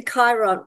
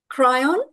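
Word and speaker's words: Kryon: Lee Carrol giving the Chiron or cryon teachings of I that correctly cryon I think it's cryon yeah I think that's how it's pronounced muddled up between cryon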